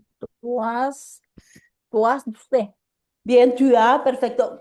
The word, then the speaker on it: tu as: Bien, tu as, perfecto. Cuidado que la S no se pronuncia, ¿eh? Ah, Tu as, tú Toi.